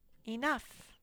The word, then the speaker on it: enough: Next word says enough. Enough is a tricky word. This OU spells and the GH says nothing.